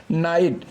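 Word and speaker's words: know: डू यू नो मी, क्या तुम मुझे जानते हो, यानी के को यहाँ हम साइलेंट कर देते हैं, NOW, यानी कि नो को ही बोलते हैं।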